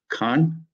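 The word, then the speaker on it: Caen: deposit at the Memorial Museum in now you pronounce it for me Khan yes this is a this is a um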